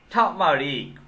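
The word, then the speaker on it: turmeric: spring onion পেঁয়াজের কলি, টামারিক হলুদ, এখানে আর এর উচ্চারণ হবে না, টামারিক হলুদ, টামারিন্ড তেঁতুল,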